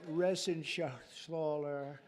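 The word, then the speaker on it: Reschenthaler: you and Guy Ren Shaler you know that rener he's uh that's actually the way you pronounce it you know nobody else gets it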